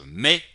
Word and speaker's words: mets: Notarán que aquí hay una T entre paréntesis. ¿Por qué la escribí? La escribí porque la tendrán que escribir tarde o temprano. Porque la puse entre paréntesis, porque no la van a pronunciar.